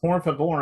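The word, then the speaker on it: Pour Favor: It's called Por Favor, only it's spelled P-O-U-R.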